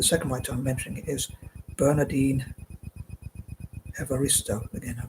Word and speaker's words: Bernardine Evaristo: But moving on, the second writer I'm going to cover is, the second writer I'm mentioning is Bernardine Evaristo. Again, I pronounced that correctly.